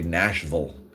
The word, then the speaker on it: Nashville: that the I and you got to say Nashville. Otherwise, people from Nashville will know you're not from Nashville.